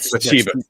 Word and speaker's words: Bathsheba: people have vandalized the grave of is it pronounced Bathsheba? Bathsheba. Bathsheba. Yeah, it's Bathshe. Yeah, Bathsheba.